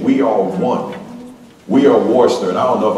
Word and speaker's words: Worcester: I said, pronounce this county. He said, Worcester, like real quick, like that.